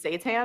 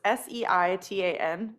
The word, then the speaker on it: seitan: Seitan, it's so it's Seitan is how it's spelled. It sounds like it's like hail Satan.